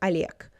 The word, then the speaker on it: Олег: Notice how I said Олег. Олег. When the consonant is at the end.